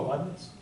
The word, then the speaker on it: Leibniz: So Leibniz, how do you pronounce this? Oh, Leibniz.